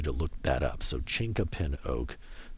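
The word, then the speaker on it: chinquapin: I ask you to look that up so chinka pin oak C H I said I wasn't going to spell it but I'm going to do it anyways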